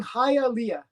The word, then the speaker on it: Hialeah: you're pretty much 99 of Hialeah I'm saying hi Alia you got it man you got it you